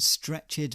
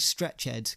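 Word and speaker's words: stretchèd: of an antique song I'm saying stretch heads because it's got a little accent above the E and I I like to say I like to pronounce that Ed stretch head now I know some people would just go with stretched each to their own but I'd like to add a bit of flair in there anyway what does it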